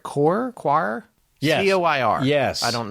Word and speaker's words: coir: I don't know if I'm saying this right, coir?